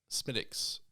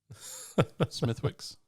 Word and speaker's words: Smithwick's: guinness is fine harp smiticks smithwicks which is not guilty that's the other one smithwicks that that is if you're american that's how you say it smithwick's smitics smithwicks i